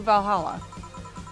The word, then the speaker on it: VA-11 Hall-A: voices for characters excuse me is this the va 11 paul a bar i don't actually know how you're supposed to pronounce that uh it is indeed welcome to valhalla oh god what is say planning now uh